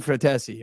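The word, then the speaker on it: Frattesi: That's an Italian boy. David Fratesi. I can guarantee you that's how it's said too.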